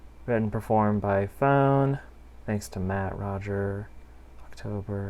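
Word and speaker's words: Foehn: have is a project i believe it's pronounced phone spelled f-o-e-h-n and this is hidden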